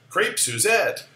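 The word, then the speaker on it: crêpe Suzette: let's see pritu net crepe Suzette that's the anglicized pronunciation the French would not say it that way but that's okay crepe suzettes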